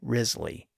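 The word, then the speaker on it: Wriothesley: of Southampton called Henry rizley by the way his surname isn't spelled like it sounds it's spelled wri IO t h s l y but he's generally known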